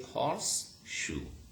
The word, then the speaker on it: horseshoe: In careful pronunciation even, you would say horse, shoe. But in rapid speech, in fluent speedy speech, what happens? You say horseshoe.